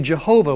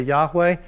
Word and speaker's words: Yahweh: am in hebrew it would be jehovah which is really sort of a corrupted way to say it hebrews wouldn't say it that way they would say yahweh and even then they